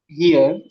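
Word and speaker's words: hier: अगला जो वर्ड अगर हम ले लें वो हो जाएगा हियर। उसकी स्पेलिंग होती है एच आई ई आर, यानी कि इसको कैसे प्रोनाउंस करना है, हियर।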